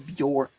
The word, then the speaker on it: Björk: They pronounce Björk instead of Björk.